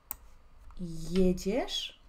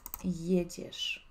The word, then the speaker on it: jedziesz: empezando a aprender idioma polaco, vamos a hacer pronunciación paso a paso. Jadę. Jedziesz. Repite conmigo, siempre está bueno, ¿no es cierto?, pronunciar la pronunciación. Jadę, jedziesz.